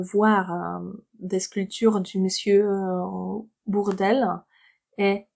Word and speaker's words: Bourdelle: Alors, plein, bord et bourg. Cette syllabe, la première syllabe, c'est bord. Bord. Le deuxième mot commence par bourg. Pourquoi bourg? Parce que au U, en français, ça fait ou, tout simplement. On prononce bou. Bourg, d'elle. La seule différence entre ces deux mots, c'est qu'ici vous avez bord et ici bourg. Ça change tout.